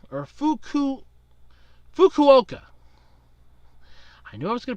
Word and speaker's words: Fukuoka: made a headline last year a man in fukuda or fuku Fukuoka I knew I was gonna pronounce mispronounce that too he was arrested for